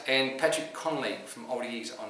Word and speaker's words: Connolly: And Patrick Connolly from Old Eagles on 8. I can't see him catching Sykesy. Pronounced Kennelly. Kennelly. It's a good Irish.